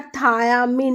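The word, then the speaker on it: thiamine: दोनों को प्रोनंसिएट तो सेम करते हैं। थाइमिन बोलते हैं। बट जो हमारा विटामिन है वो है थायामिन।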